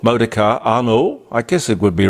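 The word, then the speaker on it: Arnault: a guy called Bernard arnno spelled a r n a u l t which I guess you'd pronounce it like the Renault modar ano I guess it would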